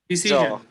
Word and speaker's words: decision: আচ্ছা, শন হবে না, জন উচ্চারণ হবে। ডিসিশন।